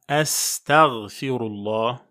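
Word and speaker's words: أستغفر الله: notamment en disant astaghfirullah, c'est un mot d'ailleurs qui a été tordu quand on le prononce en français dans la bouche de beaucoup de gens. Donc c'est bien astaghfirullah qu'on appelle donc al-istighfar.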